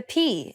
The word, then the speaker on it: π: The next consonant sound is Π, πέτρα, παπούτσι, υποπίπτω. Like the P in the word pain.